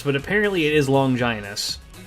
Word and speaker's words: Longinus: It is actually pronounced longinus. I always called it longus but apparently it is long ginus.